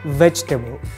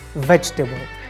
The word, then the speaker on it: vegetable: if you pronounce it it's wrong the correct pronunciation is vegetable vegetable we have just two syllables veg and pepper